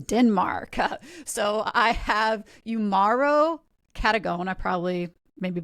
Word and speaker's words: Cadogan: Well, I mean, it's actually Scottish, so you could pronounce it Cadogan or Cadogan.